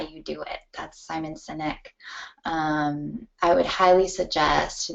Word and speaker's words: Sinek: I would highly suggest that you look up Simon Sinek. I think that's how you say his name, S-I-N-E-K. I've never heard his name pronounced out loud, so who knows.